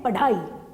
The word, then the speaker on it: पढ़ाई: अब हम जब इसका उच्चारण करेंगे तो हम करेंगे पढ़ाई। अढ़ा नहीं बोल रही हूं मैं, हम कह रहे हैं पढ़ाई।